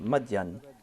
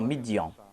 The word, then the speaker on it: Madian: Et lorsqu'il tourna son visage vers Madian, le Saint-Coran nous présente le terme Madian, mais la Bible nous présente la prononciation Midian.